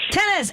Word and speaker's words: Tennis: last name my friend it's pronounced just like the sport tennis tennis and Tennis is running